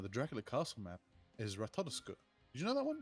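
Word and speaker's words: Ratatoskr: Like oscar but with a t at the start.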